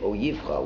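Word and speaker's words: אויבך: Now it's interesting, if you look at the word, it's spelled Oyevecha, but we read it Oyivcha.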